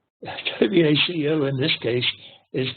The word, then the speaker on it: Waco: Waco, W-A-C-O in this case, is pronounced Waco, and it's an ancient war cry, Waco, you